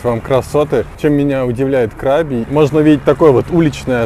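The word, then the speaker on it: Krabi: Правильное название провинции на самом деле звучит как КрабИ с ударением на последний слог и переводится как меч и вопреки всеобщему заблуждению, совершенно никакого отношения к крабам, не имеет.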